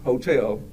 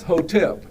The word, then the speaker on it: hotep: to Simply say hotep I'm going to spell it it's h o t p i don't want you to saying Hotel it's hotep and so when I